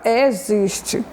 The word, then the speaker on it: existe: Então, a palavra destacada, né, da letra X, que representa o som da letra Z, na palavra azar, é a palavra existe.